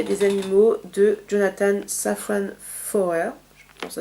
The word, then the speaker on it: Foer: Je voudrais vous parler d'un livre aussi, c'est Faut-il manger des animaux de Jonathan Safran Foer, ça se prononce comme ça.